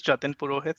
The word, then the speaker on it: Jatin Purohit: eric thanks corey uh this is jatin purohit so that's how i pronounce my name um i work with